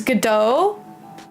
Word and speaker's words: Godot: So it's Godot. Okay, so unfortunately, Sasuke, if you're here on stream watching, you mispronounced Godot.